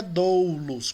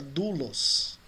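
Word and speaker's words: δοῦλος: A pronúncia não é doulos, como alguns dizem, é dulos.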